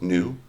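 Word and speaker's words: nu: the next greek letter but of course that's pronounced new it's just like the new guy i thought it was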